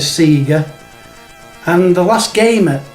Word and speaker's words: Sega: confirmed by sega it's sega so there's no arguments no more i've told you what it is and you can now stop saying sega it's sega next we're going to